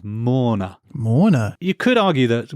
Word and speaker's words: Morna: And is this spelt Morna as in like somebody attending a funeral? It sounds like it, but no, it's Morna.